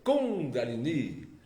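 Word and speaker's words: kundalini: Índia descobriu que Aliás a pronúncia certa segundo o mestre de Rose com galini tem dois acentos com galini a mesma palavra é acentuada duas vezes e Mas é mesmo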